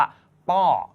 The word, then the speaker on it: ป้อ: เสียง พอ พาน นะ เขา ใช้ คำ ว่า พ่อ เป็น คำ ว่า ป้อ นะ ครับ ป้อ นะ